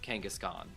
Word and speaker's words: Kangaskhan: I've always called Kangaskhan, like Kangaskhan, like not Kangas Khan, but Kangaskhan, like one word.